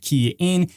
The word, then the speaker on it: Kian: hey everyone it's game for the rer guy pronounced key in and yes let's just get right into this